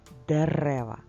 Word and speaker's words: дерева: молодці в парку ростуть дерева скільки слів в цьому реченні чотири слова абсолютно правильно в слові дерева наголос на другі букві е на другому складі прочитай ще одне речення